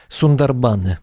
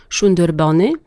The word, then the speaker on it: Sundarban: poprawiają że się wypowiada sunder Bony bo tak ponieważ węgielska brzmi jakoś No trochę może ja tak nie do końca to poprawnie wymawiam ale w bengalskim Znak S wymawiamy jako sz czyli szerb to jak